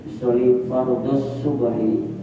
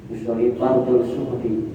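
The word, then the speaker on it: أصلي فرض الصبح: Usoli fard zuhri usoli fardus subhi jangan sampai bacanya usoli fardul zuhri usoli fardul suhri. salah nanti ehli untuk membedakan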